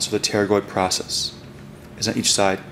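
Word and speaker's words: pterygoid: and this is your teroid process now technically it starts with the p but the p is silent so the teroid process is on each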